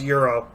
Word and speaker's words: gyro: It's pronounced euro, really, but I won't get politically correct with that, but gyro, You're gonna euro.